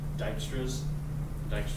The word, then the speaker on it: Dijkstra: There's an algorithm called Dijkstra's shortest path algorithm. What? That's what you can. Yeah, that's how you pronounce it, Dijkstra.